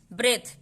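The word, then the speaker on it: breathe: ब्रेथ, फिर यहाँ पे T आ रहा है, ब्रेथ, H तक ही हमारा उच्चारण होगा, ई का कोई उच्चारण नहीं होगा।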